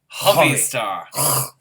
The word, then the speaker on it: Hovi Star: Well, because it's a Hebrew name. It's Hovi. Hovi Star.